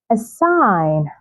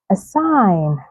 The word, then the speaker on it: assign: Gnome, assign, assign, align, align.